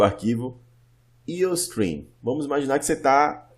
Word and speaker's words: iostream: IOStream, né? Fazendo a pronúncia correta do inglês. IO, de input, output.